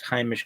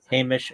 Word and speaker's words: heimish: Polish rooted Yiddish tends to pronounce Heimish closer to Hamish or Heimish.